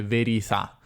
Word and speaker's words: verità: una pronuncia veramente toscana perché lei dice veri fa stare la verità sta la verità veri fa questa è la cosiddetta gorgia toscana che si manifesta in alcuni suoni inter vocalici cioè tra vocali come verità che diventa verità la parola per cui